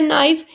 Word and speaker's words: knife: Next is bring a knife from the kitchen, ना sound consonant sound से start हो रहा है, नाइफ के साइलेंट है इसलिए आ यूज़ होगा।